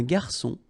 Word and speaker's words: garçon: Remember when we get this cédille beneath the C, it will give you the pronunciation S of C. So instead of K, as it should be with O. Okay? So un garçon, un menu, une carte des vins, à la carte.